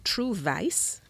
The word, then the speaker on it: TruVice: I have the artist TruVice, and that's V-I-C-E. No, none of you go and tell management that pronounced V-O-I-C-E as Vice.